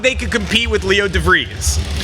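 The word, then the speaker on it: De Vries: Not that they could compete with Leo DeVries, right?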